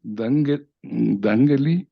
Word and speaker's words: Dangeli: Entonces, para empezar este foro, quiero dar la bienvenida a Dangeli, así se pronuncia, Dangeli.